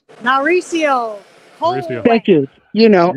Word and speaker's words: Mauricio: This is Mariko, I think it's pronounced. Mauricio.